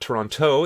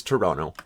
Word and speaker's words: Toronto: And yeah, at least you're pronouncing Montreal and Quebec like an Anglophone, but Toronto is definitely not Toronto, it is Toronto.